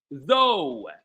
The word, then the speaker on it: though: It's actually the c because the c the gh is pronounced f while in the other words it's not pronounced at all.